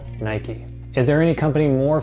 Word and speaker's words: Nike: for their shoes and in the UK they might say Nike but in the United States where the company's from we call it Nike this brand is called Nike is there any company